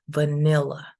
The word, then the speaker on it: vanilla: We have another example with the word vanilla, which has three syllables, and the stress goes in the second one. So see that the diacritic is before the syllable that is stressed. So this is going to be vanilla.